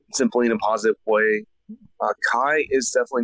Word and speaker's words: Kai: The brightest star is pronounced as Yukue. Huh. And if I change that Kue to Japanese English, it's Kai.